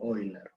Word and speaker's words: Euler: En realidad, por lo que estuve leyendo por ahí, se pronuncia así algo como Euler, ¿sí?